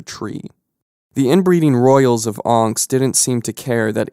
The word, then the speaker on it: Onx: the land is pronounced anks o n x not ankh like the famous egyptian totem okay so montego iv